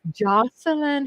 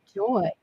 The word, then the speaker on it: Joseline: for helping me pronounce Jocelyn Hernandez name correctly. Kissy kissy to the cat. I thank you for that because I don't know why I was saying joy when it's not spelled J O Y.